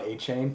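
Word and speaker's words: Achane: Devin I can never say his name Devon a chain yeah there it is um from Texas A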